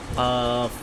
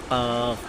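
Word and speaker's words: ق: ওকে, তারপরে হচ্ছে কফ, জিহ্বার গোড়া তার বরাবর উপরে তালুর সঙ্গে লাগাইয়া কফ কফ কফ কফ।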